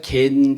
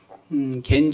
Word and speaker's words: 겐: 우리가 겐 족속이라고 발음하는데, 겐이라고 발음하는데, 영어로는 케나이트라는 단어를 사용합니다.